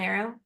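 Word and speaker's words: Areo: Maybe like bow and arrow. Arrow? Arrow. It's spelled Aeroh, but you don't have to know that to say it on a podcast.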